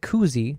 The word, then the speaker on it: koozie: And then you said koozie. Double O rhymes with poop.